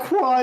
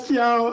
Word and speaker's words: Kiao: it's even written out phonetically. Kiao. It's not Kwa, it's Kiao.